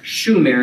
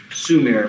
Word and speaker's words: Sumer: Not at all the place where this urban revolution began, which was in southern Mesopotamia, the land known as Shumer in Akkadian, and pronounced Sumer by most people today.